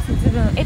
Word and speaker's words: 節分会: 節分に、会うと書いて節分へと読むそうです。